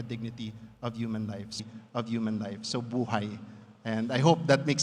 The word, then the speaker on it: buhay: Because if you spell it out, it's phonetically the word for life in Filipino. B-U-H-A-I, buhay.